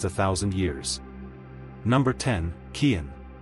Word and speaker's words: Cian: Number 10, Cian. Pronounced k e e n.